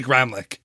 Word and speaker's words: Gramlich: name it's Gramlich we're I think the German pronunciation is like remlick program which I don't know we say Gramlich anyway even if you're